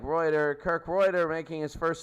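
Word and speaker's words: Rueter: Or Reuter, however you want to say it. I would say it like Reuter.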